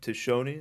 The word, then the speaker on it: Tiscione: Tishoni, I believe I'm pronouncing that right.